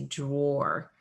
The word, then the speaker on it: drawer: Probably because we pronounce this word with more of an O sound here. We say drawer.